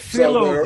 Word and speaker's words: Philo: Everybody knows that Philo is pronounced Philo.